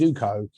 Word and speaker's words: Zoco: And again, it's interesting that, because now everyone knows how to say it's Zoco, but originally a lot of how do you make Zoco, whatever, and it didn't matter to me then.